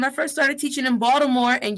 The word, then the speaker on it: Baltimore: first started teaching in baltimore and yes the t is pronounced as a d how can i come